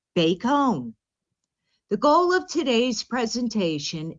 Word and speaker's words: Bacone: we explore and learn about bacon college pronounced bakehome the goal of today's